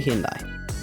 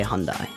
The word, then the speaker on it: Hyundai: Basically, basically a Hyundai, or as the Americans say, Hyundai.